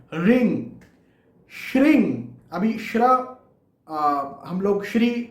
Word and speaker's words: श्रीं: तो श्री के आगे अंग का उच्चारण आप करें, श्रिंग। यहां पर भी म या न का उच्चारण नहीं होगा।